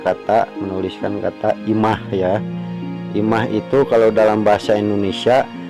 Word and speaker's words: imah: Nah, dalam huruf ma ini kita tambah tanda baca pangwisad ya. Jadi dibacanya imah ya. Pangwisad itu untuk menambahkan huruf H di belakangnya ya.